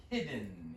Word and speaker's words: hidden: I know that it's tough because present tense is hide, right? Long I sound, right? And you said hidden. That's okay. There we go. But in past tense is hid, right? Past participle is hidden. Another little clue for that is it has a double D, and so that means that's a short vowel sound.